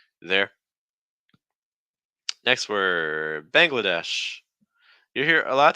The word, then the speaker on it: Bangladesh: Bangladesh Bangladesh um hos watch out for that n that NG sounds like bang Bangla so it's almost like an NG um followed by like a g sound it's like bang bang so you want